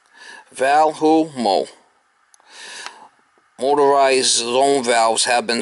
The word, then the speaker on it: Valemo: background of this product Volo pronounced Valu Mo motorized zone valves have